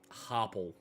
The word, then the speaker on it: Harple: Harple. Like carpool tunnel, but with a H.